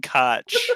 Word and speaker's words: Koch: sorry koch media recently that is actually how it's pronounced no it's it's it's it's it's not coke but it's more aligned with coke than koch no it is koch media i am i am